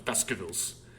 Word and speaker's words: Baskervilles: And I'm saying it like Baskervilles. It's spelled like Baskervilles, but we're British, so there are no R's, so it's Baskervilles.